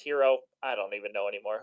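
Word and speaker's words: Herro: Which, by the way, why does he spell his name with two R's? How it's spelled like Haro. Tyler Haro. Anyways, I think it's pronounced Hero.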